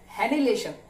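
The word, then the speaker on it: annihilation: Pair हैनिलेशन, spelling पे मत जाइएगा, वर्ड को सुनिएगा।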